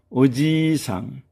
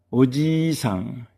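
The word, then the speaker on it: おじいさん: 그다음에 어지상. 어지상.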